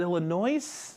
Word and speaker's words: Illinois: is it is it Illinois is there an S there's an s on there but it's not pronounced there okay then why does